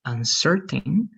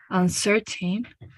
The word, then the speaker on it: uncertain: This one, just the stress, is going to be more like uncertain, like the stress over here. Let's repeat that one, please. Okay, uncertain.